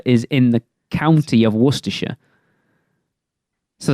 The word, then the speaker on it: Worcestershire: mind blown so like places in over there that end in shire you don't ever pronounce shadows if that if